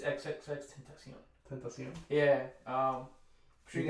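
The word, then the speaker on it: XXXTentacion: A lot of people would call him X Temptation, but it's XXX Tentacion.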